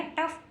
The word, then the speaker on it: tough: OUGH last में है तो फे पढ़ेंगे। टे के लिए टी, टे के लिए टी और OUGH के लिए फे। बन गया टफ।